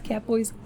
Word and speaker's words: Catbois: You pronounce Catboys Catbois.